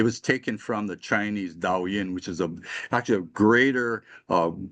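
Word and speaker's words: 導引: Do-in is a Japanese term. It is actually derived from the Chinese. They called it Dao Yin. That was the Chinese pronunciation.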